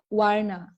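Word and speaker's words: वर्ण: The na can be softer for you. Oh, is it color? Yeah, perfect. Yes, that's right. Yeah, that's right. So how do you pronounce it? Is it a little softer? We call it varna. Yeah, varna. Okay. Instead of na is na.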